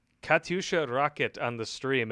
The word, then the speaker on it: Katyusha: rocket on the stream it cracks me up every time you pronounce it like kaduchi or could do rockets kadusha douche rockets there are rockets they've fired at us in iraq so apparently that's not the correct pronunciation it didn't matter they